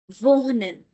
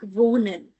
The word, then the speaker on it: wohnen: Remember, whenever there is a vowel before ha, before h, then most of the times we do not give it a lot of stress.